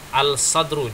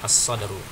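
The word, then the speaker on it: الصدر: Jangan sampai kita katakan sini al-samaku, al-samsu, jangan, atau al-sadru, jangan. Salah. Yang benar adalah as-sadru. Perhatikan, nanti dilihat kembali di halaman halaman 19.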